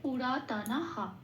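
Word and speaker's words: পুরাতনঃ: তালিকাভুক্ত করে দেওয়া আছে এটা পূর্ণ হ দিয়ে প্রতিস্থাপিত হয়ে যাবে। পূর্ণ হ দিয়ে প্রতিস্থাপিত হওয়ার পর শব্দটার উচ্চারণ হলো পুরাতনাহ।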